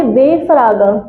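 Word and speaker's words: W-Fragen: your name तो हमारे वे फराग वे फराग double की प्रसन क्या होती है नोटबुक में देख के बताओ डब्लू की प्रोनंसिएशन वे तो ट ड व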